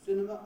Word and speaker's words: cinema: is the word cinema the word cinema can either be pronounced cinema or cinema if you want it to me it sounds a little bit elegant about the cinema but i i hear it every day it's my wife's a pronunciation of it so fair enough it's commonplace enough but and you use either but in no other word